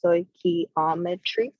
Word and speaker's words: stoichiometry: lesson is going to be on stoichiometry it's pronounced stoichiometry so first of all we need to know